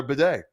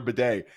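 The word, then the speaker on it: Badie: media to know that his last name is like the thing over in Europe that cleans your ass does he know what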